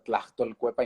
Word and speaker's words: Tlachtolcuepa: A ver, Tlachtolcuepa, intenta conmigo, maestro. Tlaxcolpueca, Tlachtolcuepa. Tlaxcolpueca, Eh, Tlachtol, Tlachtol, Cuepa, Cuepa, que significa Tlachtol, traducción, Cuepa.